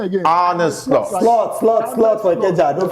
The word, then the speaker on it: Arne Slot: Tomorrow, we'll put how's the pronunciation again? Arne Slot. Slot for Ikeja. Arne Slot.